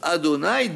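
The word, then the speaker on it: Adonai: malout son nom c'est le nom adni qui se lit et qui se prononce adonï dans ses lettres et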